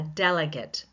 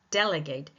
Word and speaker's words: delegate: Let's look at the noun delegate. A delegate. He's a delegate for particular political party. A delegate. Where is this? Where is the primary stress? On the first syllable. But if we were change that to a verb as in to delegate. I want to delegate to you these certain tasks. Delegate. The stress goes on to the second syllable.